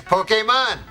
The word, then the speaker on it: Pokémon: Pokemon Parody first right off the bat they pronounced Pokemon correctly that's right kids Pokemon back when the English dub itself was barely